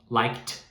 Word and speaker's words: liked: Like, liked, liked. Conseguiu pegar? Como que a gente vai saber que o like, por exemplo, tem a pronúncia de T, esse T no final, né?